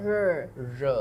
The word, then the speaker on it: 热: So you put your tongue behind your the top of your mouth. 日. That's how you say you pronounce the word 热.